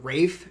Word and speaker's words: Ralph: felt like Ralph but it's pronounced Rafe cuz he's Welsh apparently oh my gosh his